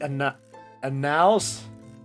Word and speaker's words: annals: I thought it said anals. I was like, wait, what? No. What? It's the annals? Annals, right? Is that how it's pronounced?